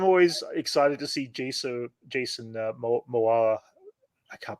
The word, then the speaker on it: Momoa: But no, I mean, I'm always excited to see Jason Momoa. I can't pronounce his last name every time.